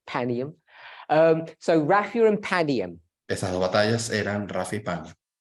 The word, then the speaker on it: Panium: Raphia and Panium, or Panium, depending, I say Panium, but I agree with you. It's the proper way to say it, Panium.